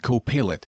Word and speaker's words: Copilot: This is its interface as I'll do besides it for co-pilot and for Gemini. And I said I know they're pronounced co-pilot Gemini.